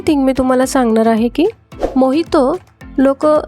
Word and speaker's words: Mojito: This drink was called Mohito outside Mojito is a Cuban drink Spanish is the official language of Cuba and In Spanish, 'J' is pronounced as 'H' That is why it